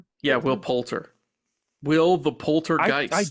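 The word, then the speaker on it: Poulter: And I'm probably am I pronouncing his name? Will Palter? Yeah. Will Palter.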